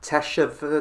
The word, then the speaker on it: teshuvah: here and she goes ok and Molly tap teshuvah teshuvah and what was it you said it